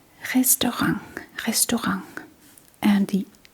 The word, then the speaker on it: restaurant: Yeah, the T in the end is actually pronounced as a G. Restorang.